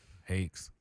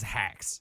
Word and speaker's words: Hakes: I just thought it was like Rakes, but Hakes. Everybody says hacks. What? Like, It's not HACK.